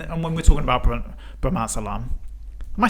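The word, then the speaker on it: bromazolam: is it and and when we're talking about Brahma Alam am I saying it right yeah yeah yeah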